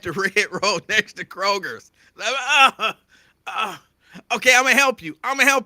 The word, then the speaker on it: Kroger: It's not Kroger's. There's no S on Kroger.